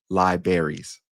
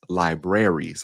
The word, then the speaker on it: libraries: lot of people do, they pronounce it as libraries when it's libraries. Like we forget that other R.